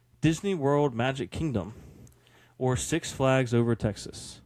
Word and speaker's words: Six Flags: I'm saying it like it's 2 words. You're saying it like it's 1. Correct. Yeah, it's 2 words. But you would say it like you're like emphasizing the 6.